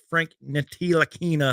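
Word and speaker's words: Frank Ntilikina: it up he can't get it rebound uh frank nitina that's how you say his name jalen brunson's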